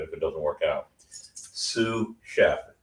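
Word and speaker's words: sous chef: Sue chef, it's spelled s o u s, right?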